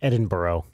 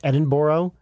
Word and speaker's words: Edinburgh: zebra is Ed producing Edinburgh Zed said that's pronounced Edinboro in bra announcer Scottish you've been outed Edinboro it's Edinboro Melbourne so London zebra Manchester say Brisbane say